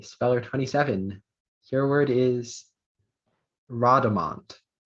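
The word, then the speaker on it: rodomont: Your word is Rhodamont.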